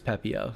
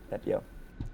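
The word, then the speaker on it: Pepiot: At a minimum needed to understand how to pronounce his name, which is Pepio. So yeah, Pepio.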